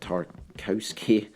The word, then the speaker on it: Tarkowski: james i might be butchering this again but tarkowski i believe it's pronounced the set english center back um top